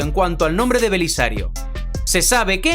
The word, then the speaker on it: Belisario: Belisario se sabe que en griego la letra Beta se puede pronunciar tanto como una B tanto como una V es decir que Belisario se puede pronunciar también como velisario de hecho así se pronuncia por ejemplo en ruso belisari teniendo en cuenta esto